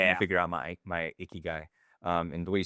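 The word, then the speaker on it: ikigai: Interview me to help you figure out my my icky guy. Um, and the way you spell that, I'll drop it in the show notes, but a i ki g ai.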